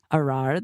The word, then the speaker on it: Ar'ar: So I said rhymes with loosely because ar means this bush. Arar, the way you're saying it, or arur, means to curse.